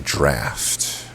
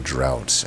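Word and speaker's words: Draught: It's Glittering Draft. I called it Glittering Drought in my defense. That's how it fucking is spelled, okay?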